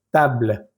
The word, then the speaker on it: table: Por ejemplo, la primera palabra que es mesa, llegamos hasta la letra L, table, table. Pero cuando termino de pronunciar la L, suena un poquito como un pequeño aire que da la impresión de que estamos pronunciando la E, pero no la estamos pronunciando. Table, table.